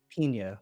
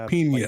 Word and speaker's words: Pina: How do you pronounce it? Pina, like Pina. pineapple, basically.